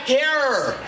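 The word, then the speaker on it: Herer: The Emperor of Hemp, the great late Jack Herror. Does anybody remember Jack Her? It rhymes with terror.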